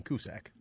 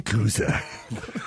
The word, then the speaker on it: Cusack: For Joan Cusack. Which I believe is the wrong way to say her name. How do you say it? Ian. It's Cusack! Cusack? Cusack? C-U-S-A-Q. Is it Cusack? Cusack. Oh, it's Cusack.